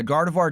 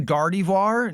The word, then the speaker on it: Gardevoir: uh it's pronounced uh technically Gardevoir is pronounced both ways. Uh, Gardevoir does go both ways because the Pokemon company has changed it. It used to be Gardevoir or sorry, it used to be Gardivoir, now it's Gardevoir.